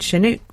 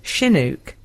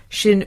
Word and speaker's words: Chinook: I hear the word Chinook pronounced with a hard ch sound. I've only ever heard it pronounced sounding more like Chinook. Second syllable rhymes with book. Oh, so Chinook.